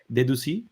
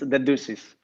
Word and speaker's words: Dedoussis: Like Dedoussis? No, that's the French pronunciation. It's Dedoussis. Dedoussis. It's a Greek surname.